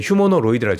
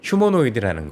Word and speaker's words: 휴머노이드: 그게 왜 그러냐면 이 피지컬 AI, 우리가 아는 휴머노이드, 뭐 몇 분이 지적을 해주실 때 휴머노로이드라고 제가 잘못 발음한 게 맞고요. 휴머노이드라는 건 사실 아시겠지만 머리가 있는, 그러니까 사람 말을 알아듣는 로봇인 거잖아요.